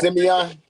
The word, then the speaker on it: Simeon: I think it's Simeon. Yes. I'm sorry. I've been calling him Simon all night. Yeah. CDE. But we from Chicago. That's pronounced Simeon.